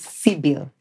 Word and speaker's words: Sybil: name introducing yourself to that camera the right pronunciation of your name all right so my name is Cil s y b i l like the you